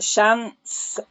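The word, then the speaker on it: Shiant: It really is worth going but there's also the Shant um which is spelt like Shian which is between um the aisle of Harris.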